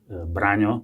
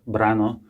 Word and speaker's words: Brano: pronouncing my name well in Slovak language it should be pronounced brano but I actually prefer brano for some reason many people call me this way so you can call me brano and also maybe you